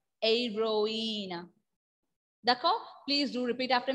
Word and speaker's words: héroïne: H will be silent. That is why I pronounced Aira. Aeroina.